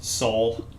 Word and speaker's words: Seoul: is it sea kenyan seoul i don't what is it brian soul it's all dead silent e baby at least that's how you pronounce it i knew as soon